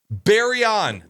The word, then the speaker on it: Baryon: Baryon.